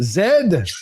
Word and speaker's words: Z: And it is pronounced zed, not Canada is the second largest land mass, the first nation of hockey.